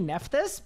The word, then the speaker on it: Nephthys: You pronounce it Nephthys? I mean, it might be. Actually, unfortunately, it has to be Nephthys because a JMod just said it on a live stream.